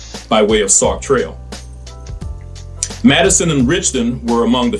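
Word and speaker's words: Matteson: though confusing to some Madison is pronounced with three syllables not too clearly as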